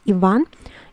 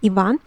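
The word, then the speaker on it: Иван: know it it is ivan ivan ivan the uh intonation the um stresses on the second syllable on the vowel um ivan and and there we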